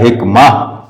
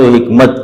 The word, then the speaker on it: حکمت: تو خیر، تو حکمت جو آپ نے کہا نا، آپ نے تو خیر عربی تلفظ میں کہا حکمہ، تو وہ لیکن بہرحال ہم تو حکمت کہتے ہیں.